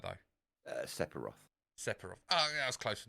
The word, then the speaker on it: Sephiroth: Now, I may get this geezer's name wrong. Right. What is Setharoth's sword called? Masamune. Okay, did I say his name right, though? Sephiroth.